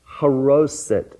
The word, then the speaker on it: charoset: Okay, it's pronounced charoset with a at the first, charoset.